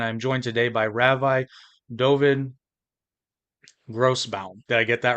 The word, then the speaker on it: Dovid Grossbaum: host Jake and I joined today by Ravi doin gross bound did I get that right you nailed it